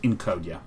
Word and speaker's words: Encodya: Yes, it's pronounced Encodya.